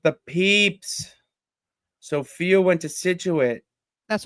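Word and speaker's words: Scituate: Sophia went to Situit.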